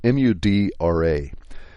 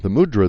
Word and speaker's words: mudra: And if you want to look it up, it's spelled Mudra.